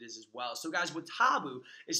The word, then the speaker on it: WoTaBu: exactly what it is as well so guys what taboo is spelled wo ta bu and it's actually an